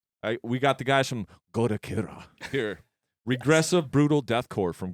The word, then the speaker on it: Goddokira: And today, we got Goddokira.